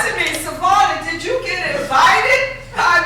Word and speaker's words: Savona: Now, my name is Savona, which should be pronounced Savona, Italian.